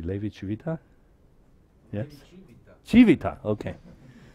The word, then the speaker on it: Levi-Civita: Levi Civita? Yes? Civita, okay. So you should put it in the emphasis on the first.